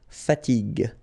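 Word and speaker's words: fatigue: got this fowel uh so as we said here you should pronounce it g g okay so you get the word fatig fatig okay second possibility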